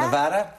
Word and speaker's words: Nevada: And how do you pronounce Nevada? Nevada.